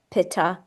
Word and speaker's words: Pitta: In the West, we pronounce them Vata, Pitta, and Kapha.